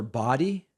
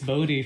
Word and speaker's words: Bodie: Is it pronounced Bodie from New Orleans or Body? Yes, it's Bodie from New Orleans. Thanks so much. It's like from Point Break, Patrick Swayze.